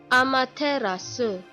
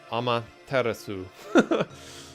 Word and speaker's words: Amaterasu: pronounce Emmett Aceros knee because if I've been pronouncing it wrong this entire time okay this video was it say Amaterasu Japanese Ummah terasu I mean I'm not gonna all probably more